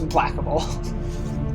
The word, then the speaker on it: implacable: It's pronounced Implacable.